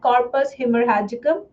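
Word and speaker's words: corpus haemorrhagicum: रेड वाले का pronunciation है कॉर्पस हिमरहजिकम।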